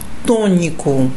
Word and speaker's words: tônico: Observe aqui, tônico. Nós estamos até estudando, né, sílaba tônica, né? Algo, né, tônico. Aí, ok, algo forte, né? Mas observe uma coisa, a sílaba tônica está no to, né?